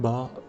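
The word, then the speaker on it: birr: My 1 bar banknote is worth 7,000 of an euro. It's written B-I-R-R but pronounced as B-U-H, Ba.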